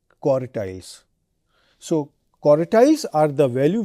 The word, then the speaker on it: quartiles: Please be careful in my pronunciation, quantiles and quartiles.